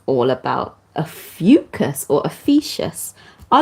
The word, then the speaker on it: Ophiuchus: it and that's all about a fucus or officious I like to say atheists but it's actually pronounced officus but anyway officious time officious time so yeah